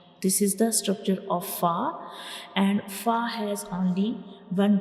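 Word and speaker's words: فاء: And when we pronounce fa, the edges of the upper front teeth will touch the inner side of the lower lip. So this is the origin of fa.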